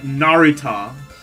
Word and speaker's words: Naruto: Oh no, actually no, there were four uh nar sorry LCX told me the correct way to pronounce it. It's like what? Naruto.